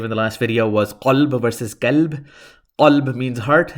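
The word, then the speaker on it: قلب: Qalb, if you don't know how to pronounce the qaf, and if you don't know how to pronounce the kaf, kalb.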